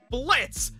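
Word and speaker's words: Blitzø: behind blitzer's desk lamp it's blitz the o is silent how many times do i have to tell you people as i was saying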